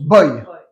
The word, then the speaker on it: voy: bien alors de nouveau ça s'écrit y VO y mais tu prononces boy comme garçon en anglais tout bass très bien